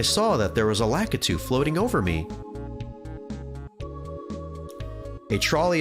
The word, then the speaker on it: Lakitu: How do you pronounce Lakitu? Lakitu.